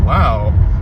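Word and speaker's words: Lowe: Speaking of uh Josh Low, someone with the same name spelling but pronounced differently. Brandon Laauo. Brandon Laauo and Brian.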